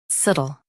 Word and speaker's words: subtle: subtle Both US and UK have the same pronunciation of this word. Say suh softly. Then almost drop the tuh.